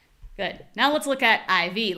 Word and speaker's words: IV: The only thing that changes is the stress.